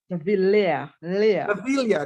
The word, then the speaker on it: Davila: Davila, how you pronounce it? Davila? Davila.